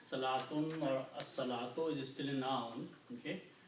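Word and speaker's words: الصلاة: In the tajweed pronunciation, when swad comes after lam, then sound of lam is not pronounced. It's a shamsi letter, so swad is pronounced twice. As-salatu. Lam is not pronounced, so it is pronounced as-salatu.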